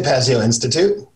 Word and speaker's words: Pazio Institute: We say Pazio Institute.